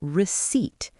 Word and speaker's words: receipt: It is called the receipt. R E C E I P T. The P is silent.